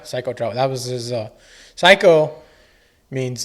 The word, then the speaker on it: Saiko: It's spelled SAIKO. But it was kind of a good play on words. Yeah. Nobody knew what it meant. Psycho. It's like psycho.